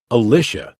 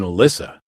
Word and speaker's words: Elisa: teacher called her name pronouncing it more like alicia than alyssa she rose from her